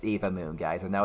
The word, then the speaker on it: Eva Moon: a shout out to an eva moon it's eva moon guys i know it's spelt like three and then va moon but